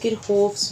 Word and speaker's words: Kirchhoff: कह सकते हैं, या फिर इसको हम लोग किरहोफ्स भी कह सकते हैं, ठीक हो गया। कि आप लोगों ने इसको किरचॉफ पढ़ा होगा, तो मैं भी किरचॉफ से आपको समझा देती हूँ।